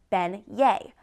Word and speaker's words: beignets: They are called beignets, pronounced ben-yé.